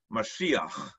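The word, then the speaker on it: משיח: The word in Hebrew is pronounced Mashiach. Mashiach is someone upon whom oil is sprinkled in a process called anointment.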